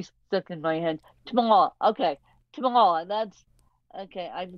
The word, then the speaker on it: Tamar: And I swear I just said your first name wrong. Give me your first name. Tamar.